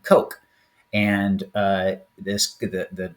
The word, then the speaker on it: Koch: he calls it that it's probably pronounced um Coke and uh this the